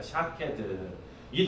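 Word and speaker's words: שָׁקֵד: 생각하면서 말씀을 읽어야 되는데요 살구나무는 히브리어로 샤캐드라는 단어입니다 샤캐드이 단어는 지켜보다라는 의미의 쇼케이드와 발음이 비슷합니다 그래서이 문학적 표현으로 그렇게 연결을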